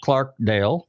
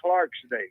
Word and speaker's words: Clarkdale: town in georgia called clarkdale correct did i pronounce it right cocktail yeah you're one of the few guys that didn't say clarksdale but it is noise